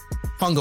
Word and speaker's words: fungible: fungible. Fungible. Oh, I said it right. I Fungible? said Is it it right. fungible? Fungible. Like fungus, but a bowl.